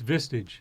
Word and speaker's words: Vistage: Manish you're doing fine so how do you pronounce mr. its Vistage Vistage yeah this is Michigan and as you